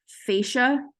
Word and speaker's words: fascia: your neck this here this fascia that's how you say it the muscle fibers get